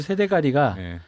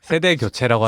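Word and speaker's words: 세대교체: 헐리우드도 세대가리가 지금 되고 있었던 거죠. 잠깐 무슨 발음을 잘해도 세대가리가 아니라 세대가리. 세대 교체라고 하시는.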